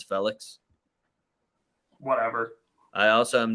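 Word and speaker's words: Félix: I also found out that we've been saying Yao Felix's name wrong the whole time, and it's Felix.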